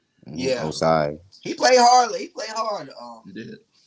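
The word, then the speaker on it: Joseph Ossai: But even on that, pronounce his name, Joseph Asai. Yeah, Osai.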